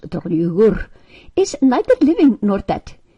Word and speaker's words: Draugur: Dost thou know that Draugur, pronounced Draugur, is neither living nor dead, is dead but eats and drinks, talks and laughs, like if he were a living man?